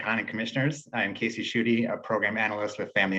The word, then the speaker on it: Shute: Calling on Casey Shute. Ms. President, Did I pronounce that okay or not? Close, it's Shooty.